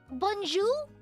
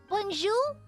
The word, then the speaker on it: bonjour: Wait, Bonju. Wait, wait, wait. There's no R. Wait, Bonju. Oh, okay. Bonj bonju Madmoiselle. Yep. France Evu Bonju Bonju then Why is there an R?